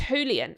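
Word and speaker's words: Julián: Do you pronounce the J as a H in um in Spanish? I think it's Julian. I've been calling him Julian, but I think it probably is Julian Alvarez because in Spanish I think the J is like a H.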